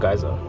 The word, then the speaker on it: Geysir: guys as well yeah this one's called geyser but spelled like GE why yes I know